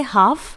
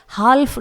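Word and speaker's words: half: इसके बाद अगला एग्जाम्पल है हाफ, यहां पर भी वही बात है, F से पहले L आया हुआ है इसलिए L को साइलेंट रखेंगे, इसे हम हाल्फ नहीं पढ़ेंगे, यह है हाफ।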